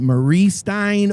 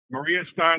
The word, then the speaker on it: Maria Stein: How you pronounce it? Moeller. Moeller. Moeller. Moeller Trucking out of Marie. What is it? Marie Stein, Ohio? Maria Stein, Ohio.